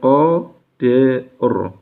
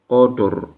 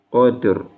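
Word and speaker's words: قدر: Qafnya tebal ya, huruf qaf berharokat fathah ini dibaca tebal. Kemudian dalnya tipis, kemudian roknya tebal lagi ya. Jadi bacanya qadr. Jangan sampai dalnya ke bawah tebal, qadr, enggak. Jangan sampai juga roknya terbawa tipis, qadr, bukan. Tapi yang tepat, qadr.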